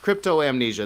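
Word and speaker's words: cryptomnesia: even close especially if it seems busy okay crypto amnesia that's how you say it crypto amnesia crypto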